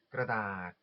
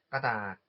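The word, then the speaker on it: กระดาษ: 일단 종이는 그라다, 그라다 또는 여기 러 발음이 묵혀가지고 까닥, 까다처럼도 들리실 텐데요.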